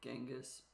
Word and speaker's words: Genghis: books in genas kan's name does start with a c or a g so chasan genas con either one is technically correct in English pronunciation I'm probably just going to go with genas and I think this